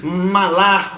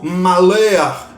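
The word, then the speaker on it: מלאך: Então, no original, o anjo do Senhor, ali com letra maiúscula, o termo hebraico, né, se pronuncia ali malar ou malear, né, ali que aparece 65 vezes, né, na Bíblia hebraica.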